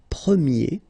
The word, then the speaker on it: premier: change quite much because if you think about the masculine form you pronounce it premier. Okay? And then for the feminine form you will get premier. Okay? So it's open this a sound premiier. premier and then second example.